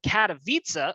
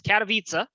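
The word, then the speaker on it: Katowice: go we saw iem katavitsa i've been pronouncing this wrong all all week i've been prone twice uh it's cataviza uh which is the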